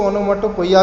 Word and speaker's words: onomatopoeia: And students, next इसमें देखते हैं, ये होता है ओनोमाटोपोइया, कुछ लोग इसको ओनोमाटोपोइया भी बोलते हैं।